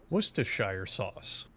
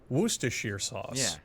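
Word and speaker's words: Worcestershire: of a tongue twister wer Shire sauce werer sauce what to Sure sauce all of these pronunciations are acceptable as are the endless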